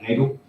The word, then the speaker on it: Cagle: Preston County, the West Virginia County Commissioners Association has recently hired a new director, and it is Pat Cagle. Is that the right pronunciation?